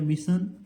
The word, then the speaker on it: mission: देखिए जैसे यहाँ पर MISSION है, इसको क्या पढ़ेंगे, देखिए MI को हो गया मिशन, देखिए मी हो गया, और SII को क्या पढ़ेंगे, सन पढ़ेंगे।